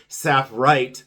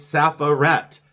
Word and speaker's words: sapphirette: I don't know why my brain was so stuck on saying sapphirite glass. It's sapphirette. Sapphirette. Sapphirette glass. And I kept saying sapphirite.